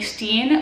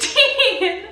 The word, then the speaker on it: Stein: I did change it to Stein which is my last name which everyone pronounces wrong. It is not Stein, it is Steen.